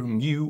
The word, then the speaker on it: mu: It's the simplest formula there is, and tells us that frictional force, F, equals the Greek letter mu or mu, different people pronounce it differently.